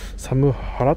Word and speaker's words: サムハラ: に刻まれた不思議な虫はサム払っと読みますととってえー